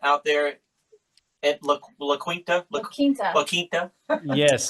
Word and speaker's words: La Quinta: La Quinta. La Quinta? Yes, say it correctly, doggone it. No, that's yeah, La Quinta, California.